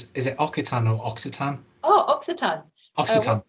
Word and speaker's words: Occitan: Where is, I'm so sorry, I don't know how to pronounce this. Is it Occitan or Occitan? Oh, Occitan.